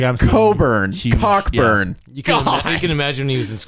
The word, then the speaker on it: Cockburn: Last week I called Kofi Cockburn, and it's Coburn. Apparently that CK is silent.